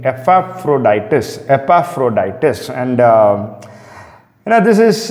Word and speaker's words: Epaphroditus: A person by the name Epaphroditus.